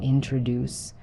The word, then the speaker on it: introduce: For example, in the word introduce, the stress is on the last syllable introduce.